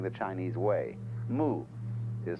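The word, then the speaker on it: 無為: In Japanese, Mui. I is Japanese for pronouncing the Chinese way. Mu is Chinese Wu. Mui, as distinct from Ui.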